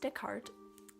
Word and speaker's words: Descartes: name that might be why but yes it's pronounced dick heart and he I wanted to talk about him